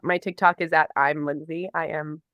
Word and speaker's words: Lynsea: music my name is it's pronounced Lindsay it's normal pronunciation but it's spelled l y NS EA so most most